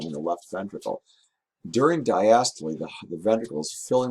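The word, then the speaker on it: diastole: is relaxed it's called diast it's a word of German origin so we say the we we pronounce the e at the end to diast when the heart contracts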